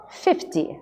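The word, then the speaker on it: fifty: 50. A sílaba forte é a primeira.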